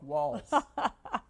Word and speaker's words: Walz: Dim woke walls. Is it walls or waltz? Walls. You actually say it like walls.